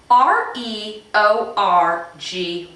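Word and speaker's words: reorgy: little sex obsessed here so the first word is spelled r-e-o-r-g-y and that is pronounced re-orgy now this is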